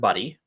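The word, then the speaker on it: Budde: uh Woman by the name of re Reverend buddy is that really how you say yeah that's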